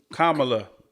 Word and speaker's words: Kamala: point is just disgust me anyway but anyway camela we got your back girl did you say her name right kamla there you go Kam we got your KLA